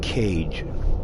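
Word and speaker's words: Kage: oh by the way her name is pronounced cage as in beige smack your door by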